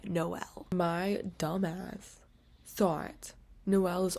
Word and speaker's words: Noel: going to be getting into is Nick and Noel's Christmas playlist by— let me tell you this right now, you guys don't crash out as I'm crashing out. I say Noel, don't say Noel.